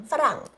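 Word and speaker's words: ฝรั่ง: Oh maybe you guys probably know but yes it's true we are called farang what do you say in t pronunciation farang like that and it's apparently it's due to that.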